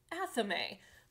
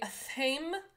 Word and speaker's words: athame: go on to an athame. Don't let anyone tell you that it is pronounced another way. If you say athame, it's a weird. It's athame, and it is a ritual dagger.